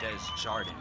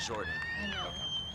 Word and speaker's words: Desjardins: Desjardins, not Jordan.